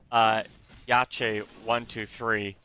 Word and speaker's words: YACHE123: out for what I'm now going to call YACHE123, as apparently that is how you pronounce that.